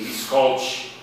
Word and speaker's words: Miskolc: impronunciável, como Debrecen e Miskolc. Em geral, quando termina com C, eles pronunciam com CH.